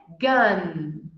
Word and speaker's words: gun: A goma de mascar é gum. E a arma é gun. Gum, gun.